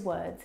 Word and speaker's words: word: Now, you're probably mispronouncing these words because you are looking at the O R and you're trying to pronounce the vowel sound o like in door. But this is incorrect. The vowel sound is actually as in her.